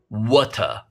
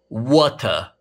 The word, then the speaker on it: water: 예를 들어 이 단어의 영국 발음은 water, water. 어우 입 아파. 뭐 이렇게 힘줘서 힘들게 발음하냐. 야 우리는 그냥 T 발음 대충 발음하자.